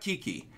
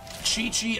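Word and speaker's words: Qiqi: eventually in game oh it's pronounced chi chi not kiki got it got it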